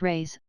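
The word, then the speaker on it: réis: the Portuguese pennies or race pronounced rays are prodigious it takes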